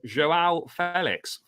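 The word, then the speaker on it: João Félix: Joao Felix. So that is how it's pronounced.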